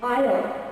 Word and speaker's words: aisle: S is not pronounced, thank you. It's not Iceland. It's an island. And aisle, do you know what's an aisle?